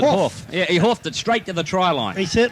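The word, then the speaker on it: Hauff: scorer was Paul hoof yeah that's the way you pronounce it off yeah you hoofed it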